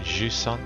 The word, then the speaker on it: Jusant: as I go through I think you pronounce it juson because it's a French word for seeding tide my French